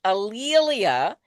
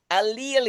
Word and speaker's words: A'Lelia: And my name is pronounced Alelia. And one easy way to remember it is that it rhymes with Amelia or Ophelia. There you go. Or Aurelia, but it's Alelia.